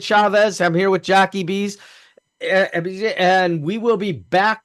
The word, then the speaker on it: Bese: Bese is okay.